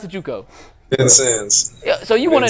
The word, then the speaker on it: Vincennes: You started in Juco, and I can't even pronounce. Is it Vincent's? How do you pronounce the Juco? Vincennes.